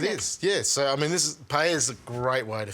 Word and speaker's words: paella: without him making a paella. I've said it right? Yeah, you have. You know, I know a lot of my friends say paella. No. Double L is Y.